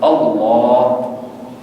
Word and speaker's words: اللہ: ضرور اللہ کرواتے ہیں، تو اللہ کے اگر خالی اللہ اونچی آواز تو یوں ہو اللہ، یہ غلط ہے تلفظ، اللہ اس کا تلفظ ہے۔ اور آگے اس کی